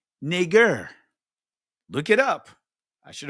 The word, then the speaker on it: Niger: twisted and turned, but it's not pronounced Niger. It's Niger.